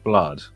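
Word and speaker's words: #BLUD: It's pronounced #blood, according to the trailer. Okay. Yeah, that makes a lot of sense. That does make sense. I mean, pound blood, maybe not.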